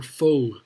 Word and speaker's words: faux: okay wow or faux turtle soup f-a-u-x yeah that's a weird way to spell it i would just think f-o or f-o-e yeah anyway anyway my